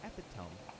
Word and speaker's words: epitome: My dad is the epitome. Epitome, it's pronounced.